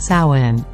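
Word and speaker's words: Samhain: ago to the ancient Celtic Festival of Sinn pronounced Sinn the Kelts were a group of people who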